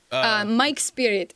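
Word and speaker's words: Majk Spirit: Mike Spirit is how you pronounce it.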